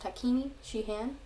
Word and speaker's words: Takini Shie-Han: sheehan wars um and that's how it's pronounced takini shihan and you might have